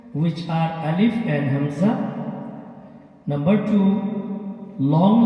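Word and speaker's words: ألف: alif which is already discussed it is short alif you have to pronounce ali don't pronounce like pronounce it alif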